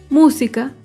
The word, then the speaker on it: música: Por ejemplo, la palabra música. Música se acentúa en la antepenúltima sílaba.